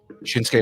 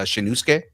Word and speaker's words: Shinsuke: if it's a us a lot of times the U is silent ah look at you yeah same thing like so so like Asuka same thing with um shinsuke Nakamura yeah shinsuke is